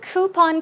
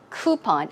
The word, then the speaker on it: coupon: to you hmm now the word coupon can be pronounced two ways I think coupon I say coupon coupon